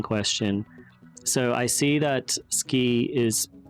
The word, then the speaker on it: 好き: In ski, the U is very faint.